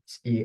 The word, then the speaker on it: est: So for e s and for l it's est but they are pronounced the same way e not s or est.